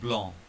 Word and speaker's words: blanc: Consonants at the end of the word have a very special feature. They are not pronounced, they are ignored. For example here, ver, salut, and blanc.